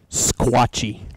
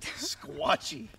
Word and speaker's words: Sequatchie: Squatchy. Squatchy. That's how you say it. It's kind of like Lebanon.